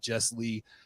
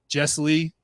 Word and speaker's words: Jesslee: so it's funny because everybody always wants to separate it into like two words and I'm like it's my first name it's and it's like